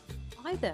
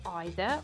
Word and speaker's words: either: to emphasize the options either can be pronounced as either or either both are correct bridge bridge is a